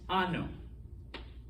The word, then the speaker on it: ano: funny example all right there is in fact a difference between those two words this is pronounced ano okay with the n and it means anus this is so you got the anya this means year okay so um npr